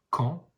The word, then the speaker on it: camp: Un camp, le P ne se prononce pas, c'est une lettre muette.